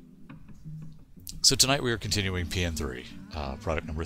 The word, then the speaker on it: P.N.03: So tonight we are continuing PN3, product number 3, which I've been informed is the actual way of pronouncing the title is PN3, not PN03 or PN03.